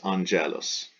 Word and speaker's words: Angelus: or letter j so classical Latin would say on Gallus Gallus ecclesiastical pronunciation is Angelus on jealous because that G is followed by an E softens the G letter I when starting